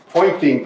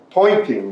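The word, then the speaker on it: Poynting: name of that Vector the pointing Vector right pointing that's spelled that way but pointing Vector is what it's called and it's equal to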